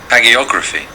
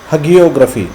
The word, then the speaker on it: hagiography: This word is pronounced Hagiography. hagiography.